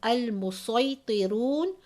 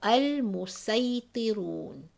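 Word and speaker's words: المصيطرون: the letter sod, then the reader has an option, either pronouncing the letter as a sod or a sin. So here you can say as al-musaytirun or al-musaytirun.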